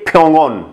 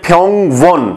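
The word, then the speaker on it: 평원: अगर हम इसको ऐसे पढ़ते हैं फ्योंग वन, तो ये हमारा लफ्ज टूट कर आएगा जिसके कोई मायने नहीं है। लिखा ऐसे जाएगा लेकिन पढ़ेंगे हम फ्योंगन, फ्योंगन हॉस्पिटल, अस्पताल।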